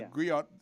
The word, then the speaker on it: griot: They're sometimes pronounced as griots, right? Yeah, griot. But a griot is actually griot.